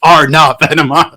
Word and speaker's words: Arne: only one little thing it's pronounced R now and they'll go oh